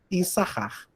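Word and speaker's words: יִשָּׂשכָר: Issachar. Então, eu não leio esse sin aqui, tá bom?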